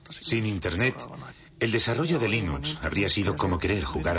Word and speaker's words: Linux: categoría fácil es y cómo se pronuncia Linux bueno John Linux lo pronunció Linux sin embargo si fuese Linux no hay duda de que lo pronunciaría Linux Claro que si uno es de la costa oeste de los Estados Unidos lo más seguro es que lo pronunciaría Linux pero a Linux le importa un bledo como pronunciéis Linux siempre y cuando lo